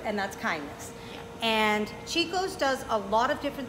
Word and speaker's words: Cicco's: She is part owner of Cicco's Ristorante.